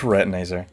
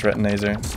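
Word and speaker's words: Retinazer: are just so infuriating retinizer you're breaking my mind retinizer you are so frustrating to deal with I know it's pronounced retinaser just don't blast me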